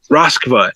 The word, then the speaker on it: Roskva: And as he is completing the spell, I believe is is it Roskva? Uh jumps in the window. Roskva.